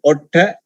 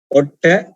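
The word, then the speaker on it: oṭṭha: For the lips in Pali we call otta. Otta. So we are not pronouncing that one, that word as ot. Ot. No, that is wrong. Why we don't pronounce as ot? Because the second part of the word letters are called combined letter. It. Ot. Ot. So therefore that word we pronounce as short vowel.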